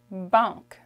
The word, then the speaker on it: banque: Okay, the A-N is a nasal sound. It makes a. Banque. Banque. Okay? Like I said, in Canadian French, the E at the end, we don't pronounce it so much. So it becomes banque.